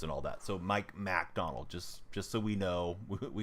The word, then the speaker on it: MacDonald: So listen, Jay, it's Mac Donald. M-A-C is how his name is spelled, not McDonald.